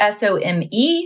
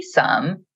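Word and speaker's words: some: the s-u-m sum makes perfect sense that the s-o-m-e sum should be pronounced Som but it's sum so this is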